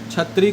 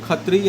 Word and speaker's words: क्षत्री: क्षत्री को खत्री या छतरी बोल देते हैं।